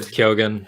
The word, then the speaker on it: Keoghan: keoghan i don't know how to say his last name um i've always said kyogen yeah i'm surprised that